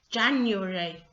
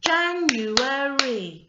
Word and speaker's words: January: might say it so very often in english people will say the word january january january but that's not actually the way that it's spelt or should be said it should be january which is four syllables so let's get that